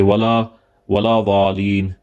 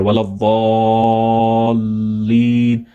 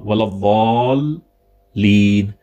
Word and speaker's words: الضالين: So it's ولا الضالين. So they should a little bit stay there. Waladdallin. It's not a single lam, it's double lam. Waladdallin.